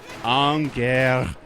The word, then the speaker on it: Angermünde: It's like a crazy U with an umlaut, and when there's a DE at the end of a German word, you actually say it. You say D. So, Angermünde.